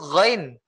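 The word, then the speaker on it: غ: Gha itu tulisannya kalau dalam bahasa Indonesia G H A ya. GH. Go sebetulnya sama dengan huruf Indonesia itu huruf G. Ya, huruf G. Coba antum baca ghairil maghdu coba. Ghairil maghdu. Nah, oke. Ya, di sini terdiri dari dua huruf sebetulnya. Bukan G aja, tapi G ditambah dengan H.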